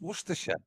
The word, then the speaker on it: Worcestershire: It's Shut just Worcestershire.